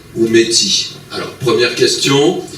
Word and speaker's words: métis: Alors, première question, faut-il prononcer le S? Une question facile, Henri, puisque vous y répondez dans votre livre. Bon, moi, je le prononce, mais je m'amuse à souligner que dans mon pays, on l'oublie, cet S.